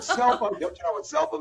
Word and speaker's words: SELPA: We say IT LIKE LIKE THE WORD SELPA.